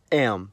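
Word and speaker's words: М: In the cerillic context, the letter is called am.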